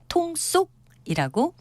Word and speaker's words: 통속: 뜻하는 통속이란 표현도 있습니다 표기 형태는 한 통속의 통속 같지만 발음은 달라서 통속이라고 두 번째 음절을 된 소리로 발음합니다 저희들끼리 모두 같은 통